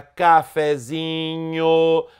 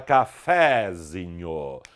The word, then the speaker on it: cafezinho: é mais fraca cá quando escrevemos por exemplo a palavra cafezinho a sílaba tônica se modifica por isso o acento desaparece a sílaba tônica passa a ser ze você não fala cafezinho e sim cafezinho esta